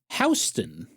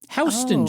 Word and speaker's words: Houston: It's actually pronounced Hston. Hon street.